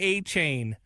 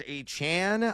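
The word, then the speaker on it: Achane: You will eventually learn how to pronounce it. It's achan. I uh I got taught by the Miami school of proper pronunciations last year. It is not a chain anymore. It is achan now.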